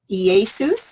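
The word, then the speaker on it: Ἰησοῦς: Greek it's 24 24 EA Seuss is how you pronounce it in Greek and it says of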